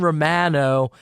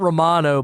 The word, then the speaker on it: Romano: ends up with Jordan Romano it's not Romano by the way it's Romano that's going to be pronounced incorrectly like a million times with the Phillies but then they